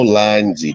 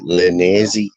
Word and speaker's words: Linesy: But who in the right mind pronounces Linesy Linnazy? Like Danny G, Linnazy? Why would you do that? Come and destroy me then, bro. Why would you pronounce that Linnazy?